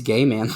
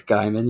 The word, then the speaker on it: Gaiman: Is that how you say his name? Neil No, I Gaiman? think it's gay, man. No, it's Guyman. You're right. I said you were right, man. I think it's You are Guyman.